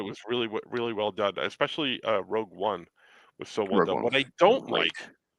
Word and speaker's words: Rogue One: I thought Rogue One, again, flawed. It's pronounced Rogue One. Thank you. Rouge One.